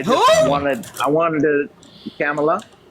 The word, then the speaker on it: Kamala: guess like me uh ask them who was the blonde bombshell on Baywatch who was married to Tommy Lee see if they see say Pamela or same name with